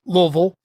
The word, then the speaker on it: Louisville: or as my grand parents would call it Louisville they would tell you that's the proper pronunciation down there in Kentucky and uh here